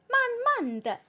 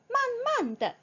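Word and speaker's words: 慢慢地: 그리고 발음은 만만드, 만만드 라고 해주어야 합니다.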